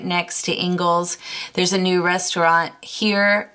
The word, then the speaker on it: Ingles: shopping Isles so it's not um it is pronounced Engles a lot of people get that confused but